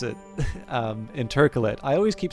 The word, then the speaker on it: intercalate: Obviously, I don't know if I believe I've actually heard Lottie pronounce it intercalate. I always keep saying intercalate, but I think intercalate is actually is the actual correct pronunciation, and I'm just an idiot.